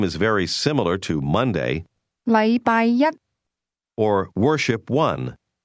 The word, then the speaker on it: 禮拜一: The difference is that the word one used with Monday is pronounced with a high level tone, while the word day is pronounced with a low level tone.